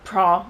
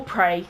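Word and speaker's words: Praa: Cornwall we stayed in a pra or prey Sands depending on how you want to pronounce it which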